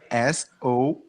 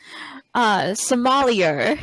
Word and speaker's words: sommelier: Uh, how is it pronounced, please? Oh, tell me the spelling. Okay, it's Sommelier. Oh, okay. Sommelier.